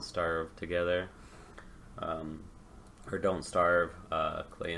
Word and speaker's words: Klei: together or don't starve Klei entertainment rhymes with clay there were rhymes with